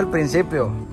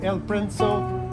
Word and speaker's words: El Principio: Rancho El Principio. Principio. That's what it was. It was El Princo. El Principio. El Principio.